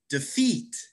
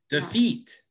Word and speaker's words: defeat: you notice that i if you stress the first syllable it's going to sound really weird to people who speak english defeat i'm going to defeat the team it's not defeat it's defeat it's not denounce it's denounce so it's